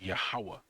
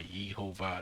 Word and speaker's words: Yahweh: it says Yehovah, which that's not how you pronounce it. It's Yahweh, all right? Not Yehovah.